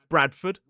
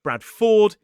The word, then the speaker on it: Bradford: You can see that in places like Oxford, Stafford, Heraford, Bradford, Watford, and Guilford.